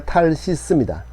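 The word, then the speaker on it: תרשיש: 다시스를 향하여 우리말 다시스라고 발음하죠. 탈 원래는 히브리어 탈시스입니다.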